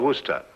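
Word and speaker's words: Worcester: else too doc but it's spelled w r c e s t e r wor s oh yes I see yes Lord wer mhm his M be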